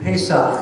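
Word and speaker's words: פסח: And Passover is pronounced in Hebrew Pesach.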